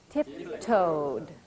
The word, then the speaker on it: tiptoed: Tiptoed. Stretched. What's the difference there? Tiptoed. Stretched. This is a D and this is a T. A very interesting aspect of English pronunciation in the past tense.